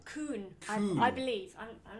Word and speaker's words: Kuhn: Kuhn.